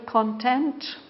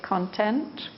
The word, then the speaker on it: content: it and this word content we can even pronounce it in two different ways we can say content or we can say content so you have to decide